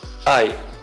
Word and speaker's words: I: primeira pessoa do singular ae ele é sempre maiúsculo ele é um wii u é a pronúncia dele é ae e ele é sempre